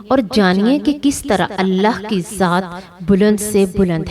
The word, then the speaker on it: اللہ: منفرد موسیقیت رکھتا ہے، کیونکہ اس کے تمام حروف حلق سے ادا ہوتے ہیں، نہ کہ ہونٹوں سے۔ یہ الہی نام ہونٹوں سے ادا نہیں ہوتا کیونکہ اس میں کوئی نقطہ نہیں ہے۔ اب اللہ کا تلفظ